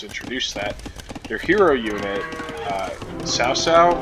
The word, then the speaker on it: Cao Cao: Their hero unit, Cao Cao, which is spelled cow cow, not a cow, or cocoa, not chocolate.